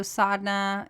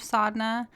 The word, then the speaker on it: Sadhana: about the transformational power of sadness and so sadhna it's spelled s-a-d-h-a-n-a most often and sadhna is a word has multiple meanings and so the broad sense of sadna is just your spiritual practice and so it